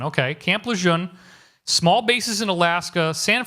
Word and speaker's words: Lejeune: North Carolina Camp Luzerne I don't know how to pronounce to spell that but that's how that's phonetic la John okay Camp Lejeune small bases in Alaska